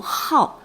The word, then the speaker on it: 好: 我们应该读好，好读书。